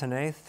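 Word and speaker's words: Hnath: It's by Lucas Hanaith, is that how you pronounce it? Hanaith, yeah.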